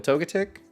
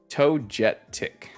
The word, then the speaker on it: Togetic: Togetic. Togetic. Oh, pronounce the G like a J?